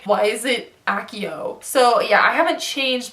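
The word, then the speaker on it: Accio: Akio from Harry Potter the spell you know Akio whatever I still refuse to believe that it's pronounced Akio it's pronounced a CEO it's pronounced a co a co broom a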